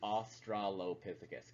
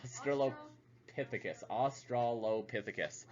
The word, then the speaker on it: australopithecus: how it's pronounced is australopithecus okay it's not like australia there's no i in there i don't know why everybody was reading eyes i want to say that australopithecus because austra low pith